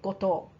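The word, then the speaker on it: 五島: Okay, Goto. Now, in this case, the island name is pronounced To.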